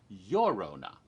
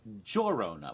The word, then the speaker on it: Llorona: part of the world in latin america the western hemisphere it's usually pronounced as a y so it would be your rona it's not your honor